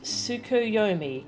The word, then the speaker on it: Tsukuyomi: claim us a table it is pronounced tsukuyomi correct a figure from far eastern